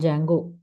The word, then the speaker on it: Django: Instagram is built using Python and Django. D is silent here.